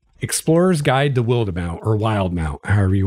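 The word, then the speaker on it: Wildemount: I pronounce it Willed Amount because, you know, wildebeest is a word that's spelled that way, but I don't know how Matt Mercer pronounces it. He made it up, so how he pronounces it is right, but you know the book I'm talking about.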